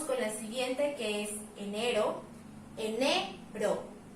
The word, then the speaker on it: enero: Pasamos con la siguiente, que es enero. Enero. Al pronunciarlo podemos identificar que nuestra sílaba tónica, el que se escucha más fuerte es esta.